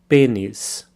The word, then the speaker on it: pênis: for penis, which is pênis. So a slight difference in pronunciation there. The E has a circumflex accent over it, which makes it an E sound. Pênis. Pênis.